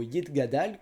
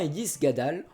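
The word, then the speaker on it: יתגדל: devient Omein, ou encore certains T deviennent des S, comme le mot Yitgadal, qui est le premier mot de la prière du Kaddish, qui devient Yisgadal, ou Shabbat, qui devient Shabbos.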